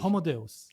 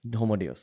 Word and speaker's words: Homo Deus: What's the correct pronunciation? Homo Deus. Homo Deus.